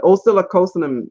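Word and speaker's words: Oscillococcinum: A natural food store would have it, but oscillocosinem is everywhere. Everywhere. I'm just happy to hear somebody actually pronounce it, because we buy it, but none of us know how to say it.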